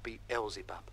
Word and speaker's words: Beelzebub: That's pronounced Beelzebub.